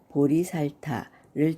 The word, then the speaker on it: 보리살타: 보리란 깨달음을 뜻하는데 리자는 원래 제이지만 이 경우에 리로 발음하는 것입니다.